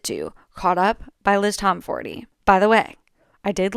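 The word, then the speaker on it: Tomforde: Classics include, but are not limited to, Caught Up by Liz Tomforty. By the way, I did learn that the E at the end of Liz Tomforty is supposed to be pronounced.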